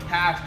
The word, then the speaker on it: Qashqai: Yes, I said Qashqai. I know you are having difficulties pronouncing it.